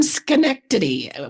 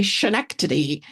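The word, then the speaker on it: Schenectady: Well, we're from Skenctity, which people always say shenanity. Um so, it's a a very common mistake that that people make.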